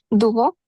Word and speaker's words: doivent: दुवो। Very nice हर्षित, क्यों? क्योंकि मैंने अभी अभी बोला कि ENT को प्रोनाउंस नहीं करना है ना, हाँ जी सर।